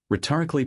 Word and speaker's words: rhetorically: Rhetorically powerful framing, four syllables on rhetorically, stress on the o y.